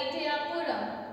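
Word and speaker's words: Ettayapuram: He was born on December 11th, 1882 at Etayapuram, India. Okay, this is his birthplace. It's pronounced as Etayapuram.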